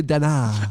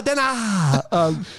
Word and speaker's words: Denard: Well, firstly, they never pronounced the D at the end of Denard. It was always Denard. Yeah, it was, yeah. It's Mr. Denard.